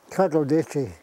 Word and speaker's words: Katlodeeche: Katlodeeche.